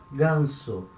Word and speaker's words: ganso: vowels for example this word here we say gunsu it means gus ganso now that s is not between two vowels